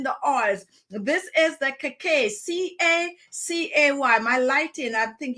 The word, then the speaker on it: Cacay: This is the Cacay, C-A-C-A-Y.